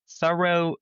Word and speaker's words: Thoreau: So this is thorough being thorough right all that's changed is which syllable has the stress and that's another one